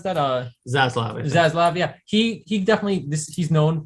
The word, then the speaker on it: Zaslav: this to happen because, Zaslav, how do you pronounce that? Zaslav. Zaslav, yeah.